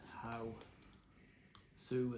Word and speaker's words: Aosu: How like in how Sue as in Sue the girl's name.